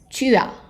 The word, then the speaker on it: tu as: So, j'ai, tu as, tu as. So, tu as, the pronunciation is going to be like there is like a Y in there, tu as, tu as, tu as.